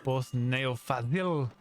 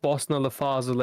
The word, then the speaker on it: Bosna Fazil: actually pronounced Bosna Fazil, and it means that Fazil who's from Bosnia or Bosnian Fazil.